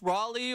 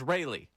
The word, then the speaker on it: Raley: Brooks Raley, or if you go to his Baseball Reference page, Raleigh. So, we'll work on the Philadelphia pronunciation of his name.